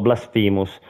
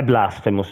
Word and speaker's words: Blasphemous: Sì, ho scoperto che si pronuncia Blasphemous in teoria. Io l'ho sempre pronunciato Blasphemous, però è Blasphemous la pronuncia.